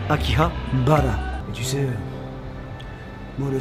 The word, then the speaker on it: Akihabara: Vous inquiétez pas, ça va revenir en été 2019, à Akihabara, la station Akihabara, pour ceux qui prononcent à la française, si tu veux la japonaise, Akihabara.